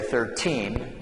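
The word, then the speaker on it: thirteen: so the stress is different so on this number we would say 13 and then the stress here is on the first syllable we say 30.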